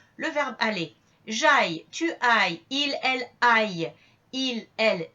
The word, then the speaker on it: aille: qui est la base aille pour le verbe aller et la base veuille pour le verbe vouloir. Vous ferez attention à la prononciation. Aille pour aller et veuille pour vouloir.